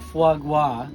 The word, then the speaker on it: foie gras: We brought foie gras.